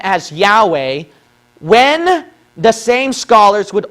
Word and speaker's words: Yahweh: thing right here okay this uh Yahweh thing this thing should be a VAV okay A V sound not a w sound okay it should be a v sound that's basic Hebrew now my question is